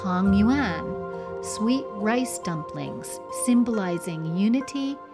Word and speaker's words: tangyuan: Families prepare and share tangyuan , sweet rice dumplings, symbolizing unity and harmony.